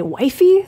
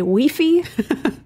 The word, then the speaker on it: Wi-Fi: top mispronounced list because in other countries they say this differently Wi-Fi here we say Wi-Fi in some places they say wifey they say weey I unfortunately can't take